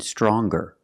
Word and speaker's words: stronger: strong to younger and stronger or the youngest the strongest when we change these adjectives with ER or with est we're going to pronounce the G sound the hard G so